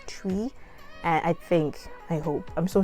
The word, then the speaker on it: Twi: The Zimbabwean in me just want to say Twi, but it's actually pronounced as Twi.